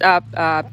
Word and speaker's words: yew: here so the first uh shrub that's up is a u it's spelled y e w and these are super